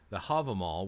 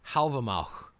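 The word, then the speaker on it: Hávamál: Havamal, which I've actually, supposedly it's pronounced Halvamach, not Havamal. Halvamach, if you go by whatever language I think it's Old Norse it's supposed to be based upon. But apparently it's pronounced more like that. I don't know how accurate that is, but it's definitely not Havamal. That's definitely an American English way of pronouncing it.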